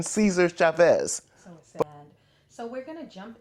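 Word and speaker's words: César Chávez: Without a correct pronunciation, Cesar Chavez.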